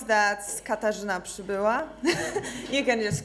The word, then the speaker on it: Katarzyna Przybyla: Yeah, I know that it's very hard to pronounce. That's Katarzyna Przybyla.